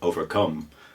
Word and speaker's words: overcome: lot and this is overcome which again I think is a fairly solid word to describe all those feelings so the word overcome the the third syllable ever overcome that that's the stressed syllable and she will kind